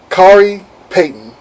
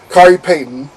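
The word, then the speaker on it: Khary Payton: also let's see here i did an interview with um kari payton i gotta make sure i said it right because you saw that even i got it wrong when i said it kyrie payton um he's the voice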